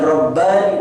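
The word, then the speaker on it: رباني: di tengahnya ada Ali jadi kalau kita melihat tulisan Rabbani dalam bahasa Arab kita bisa membacanya Ra bbani ada Alif di akhir oleh Nun dan ya maka berarti Eropa ini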